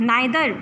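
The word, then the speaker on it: neither: बट we ants नाइदर borrow, we ants nor land. लोग नाइदर को नीदर भी pronounce करते हैं.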